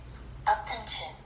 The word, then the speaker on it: UP10TION: UP10TION, pronounced UP10TION, is a Korean boy group formed by TOP Media.